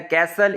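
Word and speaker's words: castle: कैसल, इसमें जो है ना आपके पास टी साइलेंट है, जैसे नेस्ले में आप देख लें टी साइलेंट होगा।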